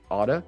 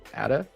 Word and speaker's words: ADA: So if you have something like 88 Cardano, I think it's actually pronounced ADA or ADA.